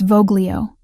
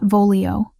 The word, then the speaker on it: voglio: It's voglio, not volio. Soft G, like this.